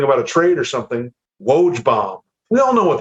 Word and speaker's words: Woj: so don't try to pronounce it just say loge just say if if he tweets something about a trade or something woage bomb we all know what that is you